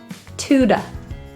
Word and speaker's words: to: The second T-O is pronounced as a D and an da. Tuda, tuda.